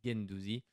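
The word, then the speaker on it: Guendouzi: l'OM game Douzi voilà j'ai bien le prononcer parce qu'on vient de me reprendre pas le prononcer donc voilà gaine Douzi Matteo gain Douzi le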